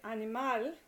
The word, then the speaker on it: animal: All right, now if a word ends, say for example, in a consonant that is not N or S, like doctor, then the naturally occurring stress is on the last syllable. So, for example, doctor, animal, that ends in an L. So, and you say it animal, and I'm going to